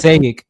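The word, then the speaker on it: Passaic: Payic, that's how you say it. I always mispronounce it.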